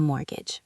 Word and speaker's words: mortgage: A mortgage, pronounced mortgage, silent t.